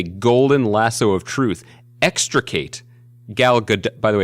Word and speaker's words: Gal Gadot: perhaps with a golden lasso of truth, extricate Gal Gadot. By the way, it's pronounced Gal Gadot.